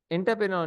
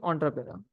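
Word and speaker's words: entrepreneur: तो support to एंटरप्रेन्योर, नहीं ऑन्टरप्रेन्योर। नहीं नहीं, इसका चेंज हो गई प्रोनाउंसिएशन, ऑन्टरप्रेन्योर हो गया जी।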